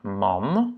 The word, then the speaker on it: man: Donc, on a man, ok. Il n'y a pas un doublement de voyelle ici. Donc, ça va être un A court, man.